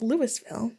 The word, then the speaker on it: Louisville: Like Winston County, Louisville is named for Lewis Winston, which I'm assuming is Lewis and not Louis. Yeah. Yep, and it says pronounced Louisville.